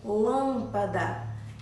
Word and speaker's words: lâmpada: como você por e lâmpada o som sai pelo nariz não é você lâmpada então o som é diferente o som é fechado certo então é E